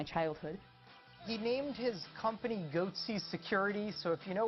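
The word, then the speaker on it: Goatse: They're called Goatsy Security. Is that my pronouncing that correctly?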